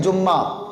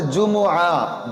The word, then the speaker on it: جمعہ: کو جمعہ کہا گیا۔ بعض بھائی کہتے ہیں جمعہ، تو یہ غلط تلفظ ہے، صحیح تلفظ ہے جمعہ، جیم پیش جو، میم پیش مو، عین ہا زبر آہ۔